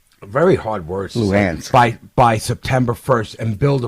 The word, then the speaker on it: Luhansk: Donetsk and Lugansk. Very hard words. Luhansk.